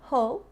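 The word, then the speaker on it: whole: inglês que são parecidas nós temos ho que tem exatamente a mesma pronúncia mas é escrita de uma forma diferente com o w na frente que significa inteiro ou integral que é o caso de arroz integral a gente fala como ho Price mas também existe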